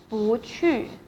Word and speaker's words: 不去: If it is a case that 不 is followed by a fourth tone, and then 不 will be pronounced as second tone. 不 For example, 不是 and also 不去去 means go.